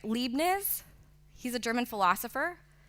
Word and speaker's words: Leibniz: about this so I don't know if I'm pronouncing his name right Leibniz he's a german philosopher like not okay Leibniz yes okay I knew you guys were gonna